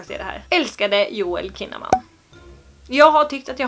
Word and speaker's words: Kinnaman: Vi behöver inte säga något till Johan, och nu vet jag att du heter Kinnaman och inte Kinnaman.